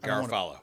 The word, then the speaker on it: Garofalo: John how do you say your last name Galo Galo all right so John owns a Cigar